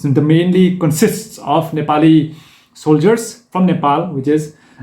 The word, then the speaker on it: Nepal: funds I'm not here to be elected regiment Nepali gangster yeah there was a famous quote from